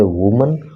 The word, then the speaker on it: women: यानी कि singular number में यूज करोगे तो बोलोगे वुमन और प्लूरल नंबर में यूज करोगे तो बोलोगे वीमन। हैव बीन किल्ड, जान से